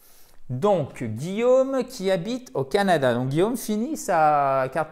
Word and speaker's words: Canada: Donc, je me mets devant, justement, le Canada, c'est Canada, Canada, c'est un A court, accent tonique sur la première syllabe, Canada.